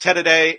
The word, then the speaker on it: tereré: particularly Paraguayan today and it's spelled ter e re with the accent in there I don't know espanol very much but it's pronounced Ted a day and here it is